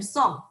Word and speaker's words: Sung: ka in song so last name song sounds like s-o-n-g but it's spelled as u-n-g because i'm from taiwan it's a different spelling system is actually a name